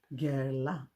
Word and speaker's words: Guerlain: So I just checked the pronunciation. It's Guerlain, one of the oldest brands, French brands.